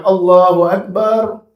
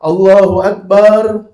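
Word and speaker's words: الله أكبر: Jangan ucapkan "Allaaahu akbar", cukup "Allahu Akbar, Allahu Akbar".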